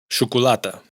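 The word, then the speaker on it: xocolata: Pero cuando está en posición inicial de palabra, se pronuncia sh. Xavier, Javier. Chocolata, chocolate.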